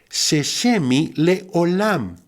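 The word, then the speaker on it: זה שמי לעולם: La frase, este es mi nombre para siempre, se pronuncia en hebreo, Sheshemi Leolam.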